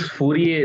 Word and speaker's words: Fourier: i know is that it's fourier not fourier because fourier was apparently a frenchman so the r is silent so jt is this